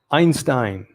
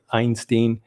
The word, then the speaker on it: Einstein: is as smart as einstein now it can be einstein einstein depending if you're english british english they say einstein and german is pronounced einstein so uh i prefer the the german version pedro is as smart